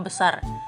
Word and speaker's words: besar: Huruf R di akhir kata lebih keras dalam bahasa Indonesia, sementara di Malaysia kadang lebih lembut atau tidak terdengar. Contohnya adalah kata besar. Bahasa Indonesia, besar dengan R yang terdengar jelas. Bahasa Melayu Malaysia sering diucapkan seperti besa, khususnya di daerah utara Malaysia.